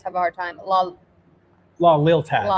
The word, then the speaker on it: La Lealtad: a hard time, La Lealtad. Lealtad. I think. I always want to add like an extra A or I between that L and T, and I know that's not how you say it.